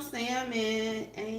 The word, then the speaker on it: salmon: to be making some salmon we're going to make some so in regards to making the salmon I have cut them in slices hello hello welcome yes the L is silent it's not salmon I